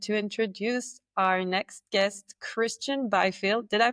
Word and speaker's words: Kristjan Byfield: And I'm very excited to introduce our next guest, Kristjan Byfield. Did I pronounce that well? You did, spot on. Spelt funny, said normally.